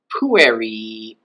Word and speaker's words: pueri: Pueri vocant, the boys call. And we can see that there's a stress accent there on the second to last syllable, called the penult, or penultimate syllable.